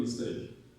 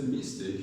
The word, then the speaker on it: mistake: But it's actually mistake. When you say mistake, you're stressing Mistake. It's mistake. Okay? I made a mistake, not I made a mistake. So the stress is on take, I made a mistake.